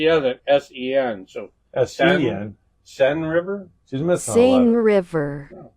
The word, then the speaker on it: Seine: Kathy. Pronounced S-E-N. Okay. Seine River. Okay, that's pronunciation.